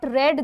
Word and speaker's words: read: अब रीड को आप लोग यहाँ पे रेड प्रोनाउंस करेंगे बिकॉज रीड का third form is रेड। रीड, रेड, रेड, रीड का सेकेंड फॉर्म भी रेड होता है। हम इसको प्रोनाउंस RED रेड जैसा करते हैं, लेकिन लिखते इसको READ ही है। कंफ्यूजन नहीं। अगर आप इसको have you नॉट रीड this book बोलोगे तो ये गलत हो जाएगा।